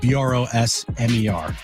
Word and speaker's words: Brosmer: Max Brosmer. Just how it's spelled. Brosmer.